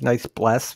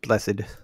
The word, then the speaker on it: blessed: knights blessed i know it kind of says nice bless but i believe it's pronounced blessed like brian like brian blessed brian blessed he's brian